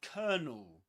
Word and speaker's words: colonel: And it rhymes with a word with this one. Colonel. You can pretend it's spelled like this. Colonel. But of course in British English before a consonant sound you don't pronounce the letter R. You don't say colonel. Colonel but kernel.